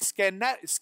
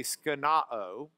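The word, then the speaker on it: σκηνόω: is the word from the Greek skeno, except that's Lubbock pronunciation, and someone's going to correct me like geezer. So I better say it, instead of skeno-o, say skenao. With the Omicron as opposed to the Omega.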